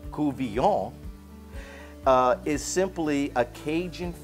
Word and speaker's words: Couvillion: term cool v o with a v it's pronounced kuvyon uh is simply a cajun fish stew now